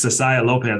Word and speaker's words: Cessiah Lopez: My co-host, but this time guest today is Cessiah Lopez.